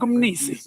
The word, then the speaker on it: Mni: So Frank's surname is Mni, M-N-I. I say, I ask him, so how do I pronounce it? He says, no, it's just like Umnisi.